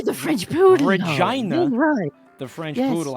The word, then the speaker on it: Regina: Regina the French poodle. Regina the French poodle. I know I know you Canadians pronounce it that way, but it's Regina.